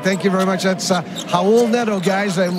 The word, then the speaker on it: Raul Neto: That's Raul Neto, guys, and we may as well pronounce it right off the bat. You don't pronounce the R.